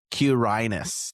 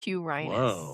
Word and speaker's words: Quirinus: Well, I looked up the pronunciation. It's uh it's Q Q uirinus Quirinus Quirinus Never would have guessed It's like a full of love and alliteration.